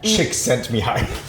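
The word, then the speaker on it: Csikszentmihalyi: Uh chick sent me high. I literally wrote it out phonetically for myself.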